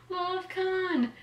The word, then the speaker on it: Love Con: is the love con love con it's because it rhymes with love gun but um by cerecia